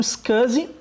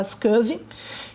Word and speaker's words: SCSI: Mas era o padrão SCSI, se pronuncia assim mesmo, tá? SCSI, que é uma sigla para Small Computer System Interface.